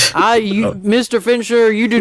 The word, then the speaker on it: Fincher: was was it david finchner fish however you pronounce his name fincher yeah like a finch but then um fincher